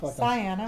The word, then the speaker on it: Sienna: Sienna rhymes with Diana. Okay. Sometimes I tell people Princess Diana, Princess Sienna, so they can know how to say it.